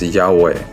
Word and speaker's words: Yahweh: In Hebrew, tetra grammaton is spelled yad vah and pronounced as yahweh with each letter being a substitute for the element.